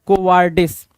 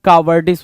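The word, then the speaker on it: cowardice: रहा है कोवार्डिस कोडिस आपको पता है कावर्डिस होता है कोवार्डिस नहीं होता है कोवडाइस भी नहीं होता है देखो डाइस लिखना लिखने की कोशिश कर रहा है। कोवार्डिस होता है क्या? कोवार्डिस। कोवार्डिस की spelling C ओ डब्ल्यू कावर्डिस पढ़ा करो तो ज्यादा अच्छे से याद रहेगा क्योंकि कावर्ड से कावर्डिस बना है भाई।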